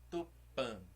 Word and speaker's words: Tupã: das palavras são oxítonas então a sílaba forte é sempre a última não é oreru oreru e nem perdão não é o livro nem horário é o Lilo aí amando Tupã sempre a última sílaba que é mais forte agora vamos tentar cantar